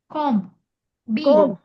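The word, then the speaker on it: comb: என்ன கட் பண்ணீங்க கோம் சீப்பு சீம் கூடாது கோம் கண்டம் தமிழ்ல வந்து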